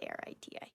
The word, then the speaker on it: Arete: Okay, yeah, no, it's spelled Arete, which is Ariti.